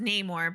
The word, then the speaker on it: Namor: Nate is right it is supposed to be pronounced Neymar but in the movie they they just call him no more I just love their use of native Mexicans